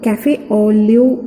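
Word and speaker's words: café au lait: is and what are these so e is cafe only spots is that how it is pronounced and these are some subcutaneous nodules so this is neurofibromatosis very good caffe olio spot subcutaneous nodules remember this is an autosomal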